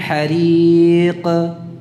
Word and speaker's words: حريق: Jadi bukan hariq ke ini tipis. Hariq ya. Namun ya di sini tidak diucapkan dengan imalah atau condong ke fathahnya. Hariqa qa tidak. Jadi tidak dibuka rahangnya. Cukup makhrajnya saja.